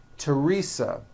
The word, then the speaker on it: Teresa: like to point out although these next words and names are spelled with a t H they are pronounced as if they were spelled with a normal T TT like that and